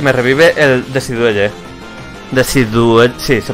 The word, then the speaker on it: Decidueye: O sea, me revive Altaria y me revive el Decidueye. Sí, se pronuncia así.